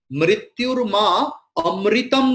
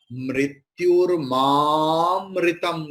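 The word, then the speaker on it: मृत्योर्माऽमृतं: It is mrityurmamritam gamaya. So just before avagraha, there is a. So a will be prolonged.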